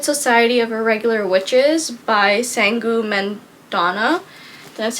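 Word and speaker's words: Sangu Mandanna: the very secret society of irregular Witches by sangu menana that's how you say her name so this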